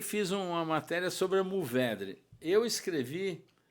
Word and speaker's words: Mourvèdre: Bom, então eu, com esse meu estilo afoito, peguei e fiz uma matéria sobre a Mourvèdre. Eu escrevi Mourvèdre, não Mour.